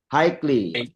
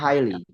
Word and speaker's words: highly: Hikely. Oke. Dapat ya. Hikely secara tinggi highly bacanya highly.